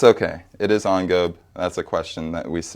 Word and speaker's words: engobe: o b e and it is Ono like on and then go it sounds like Globe but it's not there's no l again there's no l